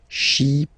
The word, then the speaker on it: Chypriote: Remember this Y is pronounced like I, okay? Chypriote.